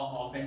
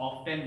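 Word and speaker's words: often: दे ऑफेन, इसका जो pronunciation होगा ऑफेन, टी साइलेंट होता है, बहुत सारे इसको ऑफ्टेन भी पढ़ते हैं। इसको ऑफेन पढ़ना ज्यादा बेहतर रहेगा, इसका जो प्रोनाउंसिएशन करना होगा आपको ऑफेन पढ़े तो ज्यादा बेहतर है।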